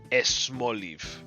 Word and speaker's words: Smoliv: So I think if the word is S followed by a consonant, Spanish speakers will generally like to add an E to it. So this would be esmoliv, which is still not Spanish.